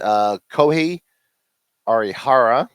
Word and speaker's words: Kohei Arihara: From the Texas Rangers, Kohei Arihara. There you go. Good job on the pronunciation.